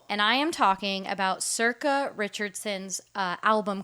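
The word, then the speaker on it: Sorcha: long time wow and I am talking about Circa Richardson's uh album called smiling like an idiot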